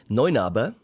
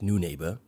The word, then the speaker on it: Neunaber: Noa, not new neighbor. Apparently they say new neighbor, but that it's it's not a new neighbor, it's noa. That's German.